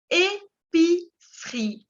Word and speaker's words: épicerie: Épicerie, como un almacén de barrio. ¿Ok? Épicerie. Y la segunda E no se pronuncia.